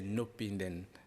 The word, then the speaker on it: No pinden: le dire non le nom de l'émission C'est nopinden nopinden nopinden vous savez ce que ça veut